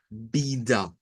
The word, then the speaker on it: vida: De acuerdo al portugués de Brasil, va a sonar con una A media al final. Vida. O sea, nosotros decimos vida hacia frente, la A, pero en portugués la entonación de esta palabra es diferente, puesto que la sílaba tónica es la primera, bi, y esta va a sonar a da, vida, vida.